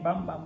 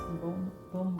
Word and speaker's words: Bum Bum: I don't know why I keep saying bum bum, but It's pronounced boom boom boom.